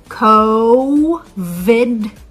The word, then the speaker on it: COVID: Co vind 19 and remember how to produce the V sound still vibrating so again we want to say Co vid 19 good job alright so